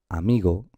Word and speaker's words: amigo: Mirad, cuando la palabra, por ejemplo, amigo, el acento recae sobre esta sílaba, sobre la sílaba mi, ¿vale? Y nos dice que es una palabra llana. Amigo, porque está acentuada la penúltima sílaba.